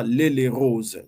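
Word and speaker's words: L'Haÿ-les-Roses: la ville c'est euh on l'appelle l'ail les rose mais on prononce nous on prononce vaguement les les rose donc c'est à l'ail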